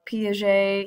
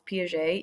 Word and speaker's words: Piaget: to my young child how to pronounce Piaget even though the G does not sound like a G that would be really